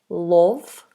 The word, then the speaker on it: love: Sometimes people say lo love love or they say love because of the o. So they say love or love but it's actually closer to an a sound.